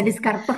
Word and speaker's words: Descartes: Ya, Descartes itu bacanya.